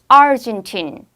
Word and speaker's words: Argentine: 그런데 아르헨티나 사람, 아르헨티나 말할 때는 앞에 강하게 하는 Argentine.